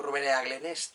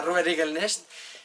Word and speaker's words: Ruber Eaglenest: mi amigo Ruber Igelnest, como siempre lo leo, digo Ruber Eaglenest, entonces pero se pronuncia Ruber Igelnest, me ha pedido que